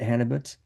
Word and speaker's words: Hannibut: We have Rachel Hannibut, and Rachel, am I correctly pronouncing your last name? Is it Hannibut? Okay, excellent. So I'm glad I got that right.